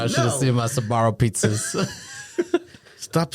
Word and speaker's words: Sbarro: Like, Yeah, I should have seen my Sbarro pizzas.